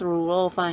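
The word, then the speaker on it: 滷肉飯: chinese where will be lu rou fan uh the pronounces a number pronounced rule fine is mandarin and lo is taiwanese and the main ingredients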